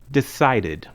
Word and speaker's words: decided: Decide ends with the sound d. So we pronounce the ending id. Decided. The pronunciation id adds an extra syllable to the verb. Rent has 1 syllable. Rented has 2 syllables. Rent. Rented. Decide has 2 syllables. Decided has 3 syllables.